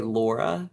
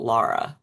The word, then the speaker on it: Laura: But the nickname started sticking in college because people would say Laura, and back home we pronounce it Lara. Laura. And so it's like Lara or like Laura.